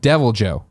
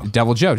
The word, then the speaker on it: Deviljho: to help settle it the H is silent when saying deviljho okay w deviljho thank you about the